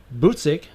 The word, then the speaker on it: Buczek: Because Joey, Buczek is how he said to pronounce his last name.